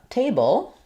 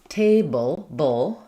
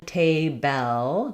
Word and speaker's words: table: So, for example, in the word um uh table, table, I'm going right from the B to that sound. I'm not saying table.